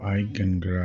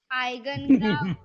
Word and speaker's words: Eigengrau: Let me see if I pronounced it correctly. Eigengrau. Eigengrau. Oh, Eigengrau.